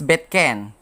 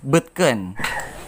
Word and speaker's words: butken: It shouldn't be pronounced as betken, rather articulated as butken.